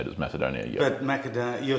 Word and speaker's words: Macedonia: I'll I'll revert back to if I said macadonia Macedonia is in English you'd say it as Macedonia but macad you're saying it in the Greek